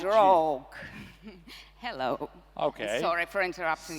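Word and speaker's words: RAWG: Is R-A-W-G. That's called Rogue.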